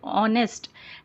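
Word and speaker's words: honest: ऑनेस्ट hatch silent रहता है यहां पर ऑनेस्ट में।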